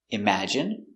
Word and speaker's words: imagine: Words ending in ine can have different pronunciations. All of these have the sound in. Imagine, examine, engine, discipline, feminine, and masculine.